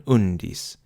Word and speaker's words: undis: beginning of the foot, and the accent is on the U syllable in undis, also the beginning of the foot.